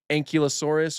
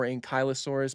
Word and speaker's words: Ankylosaurus: Same goes for like Ankylosaurus or Ankylosaurus. Both are fine.